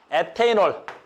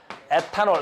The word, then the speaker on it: 에탄올: C두 개 다섯 OH 얘는 뭐라 그래? 에테인올 니 요즘 옛날 말로 뭐라 그래? 에탄올 에탄올 에탄올 그래서 요건 에탄올이라고 읽자.